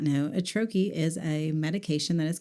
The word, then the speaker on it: troche: So we've heard troche and but it's troche is how you pronounce it, and Troche if you're listening and don't happen to be on YouTube when we list it below.